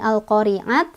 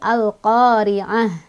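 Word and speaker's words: القارعة: Nah ini tak marbutoh, kalau berhenti dia jadi ha besar ya, bukan al-qari'at tapi al-qari'ah, jadi ha gede ya, sukun.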